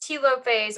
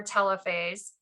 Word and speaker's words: telophase: this last stage telophase this can be pronounced telophase or telophase that's an e two